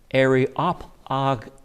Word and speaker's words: Areopagite: The word that we pronounce Areopagite is pronounced a little bit different way. Areopagetes.